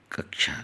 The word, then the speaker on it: कक्षा: A option next है कच्छा शब्द का शुद्ध उच्चारण क्या है शब्द का शुद्ध चरण इसको कहते हैं कक्षा कहते हैं ठीक नेक्स्ट वही है